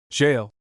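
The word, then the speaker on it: gaol: conqueror having said gol the conquered prince jail which the American invader must pronounce jail not gay.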